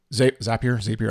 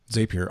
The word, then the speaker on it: Zapier: you alluded to like Zapier yes. and a bunch of automation stuff, which I've always been Zapier, I don't know how you say it, but it's Zapier rhymes with happier.